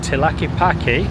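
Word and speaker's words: Tlaquepaque: And Google is telling me that Tilaki which is how it's pronounced, means the best of everything.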